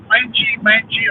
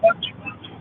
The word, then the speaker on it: Wanji: But it was only the other day that I found that Wenji or Wanji or Wanji, I think it's Wanji. It's pronounced Wanji. We always thought it was Wenji Foundation.